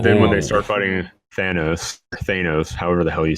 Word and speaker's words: Thanos: It's Thanos. Yeah. Thanos. How do you say it? It's both. I think it's both. I've heard the president of Marvel say Thanos.